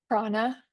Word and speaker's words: prana: Prana. Prana. My teacher would say. You have to make sure you put your long ah and your na in the third mouth position.